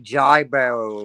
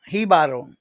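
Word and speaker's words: Jíbaro: I would have been like Jai Barrow or something like that. No, no, it's Hibaro, like with a H.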